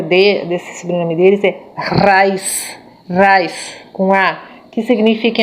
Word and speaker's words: Reis: são imigrantes alemães Então esse nome não é pronunciado como Reis como nós temos muita família Reis aqui que são descendentes portugueses a pronúncia correta de desse do nome dele Vaz Vaz com a que significa em alemão arroz